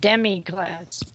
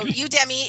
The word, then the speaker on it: Udemy: It sounded like you said demi class. No, okay, so Udemy is an online college, and a lot of people can teach lots of different stuff.